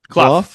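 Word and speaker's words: Cluff: Oscar Kloof or Clough? Clough.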